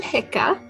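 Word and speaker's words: Hikka: i have not yet introduced myself i am hika and this is my wife uh great how do you spell that uh h-i-k-k-a and you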